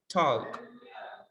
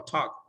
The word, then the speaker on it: talk: type or what no you don't pronounce the letter l only talk without the sound of l talk walk and with